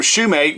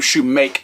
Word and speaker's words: Shoemate: with his interview with Sam shoemate which I pronounced shoem mate's name I was calling him Shumake yesterday and I do apologize to that just out of respect